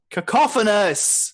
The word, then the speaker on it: cacophonous: you for correcting my pronunciation is cacophonous like a cough oh no your nose